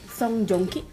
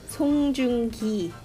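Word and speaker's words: 송중기: Song Joong-ki. It's a little bit off. It's Song Joong-ki.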